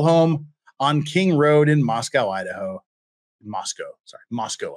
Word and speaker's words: Moscow: the Russians too long forgot how to pronounce Moscow that's how we pronounce it out there in Utah and Idaho is Moscow Idaho not Moscow that's a that's that's